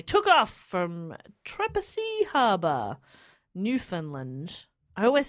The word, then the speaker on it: Newfoundland: off from Trepassey Harbour, Newfoundland. I always say it wrong, but a Canadian friend told me how to say it. It looks like Newfoundland, but it's not Newfoundland. It's Newfoundland. How now, Newfoundland? Newfoundland.